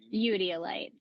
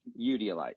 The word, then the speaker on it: eudialyte: Udiolite. Udiolite, yeah.